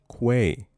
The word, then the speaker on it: quay: Say it with me now. With a Q. Quay. Quay. Not key.